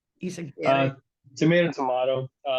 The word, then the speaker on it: Izaguirre: Uh, Izaguirre. tomato, tomato. The way I pronounce it is Izaguirre, but Izaguirre.